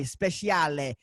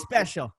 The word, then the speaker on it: Speciale: for being here man I always want to pronounce your name liked it like the Italian Ferrari especially Ali but it is special well actually that's the right way to say